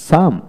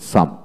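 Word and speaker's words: psalm: তারপর আসেন সাম, এস এ এল এম, সাম। এখানে পি এর উচ্চারণ হবে না, আবার এল এর উচ্চারণ হবে না। যেমন সাম, এস এ এম, সাম।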